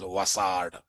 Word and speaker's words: WSAD: There is a tool called, one IDE called WSAD, WebSphere Studio Application Developer. But no one says WSAD. Everyone calls it as WASAD.